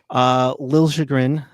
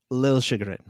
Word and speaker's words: Liljegren: Now it's Lil Chagrin. Okay. So that L and J kind of get merged a little bit.